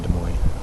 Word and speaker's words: Des Moines: des moines yep i grew up some in des moines i think it's pronounced does moines i believe you're correct it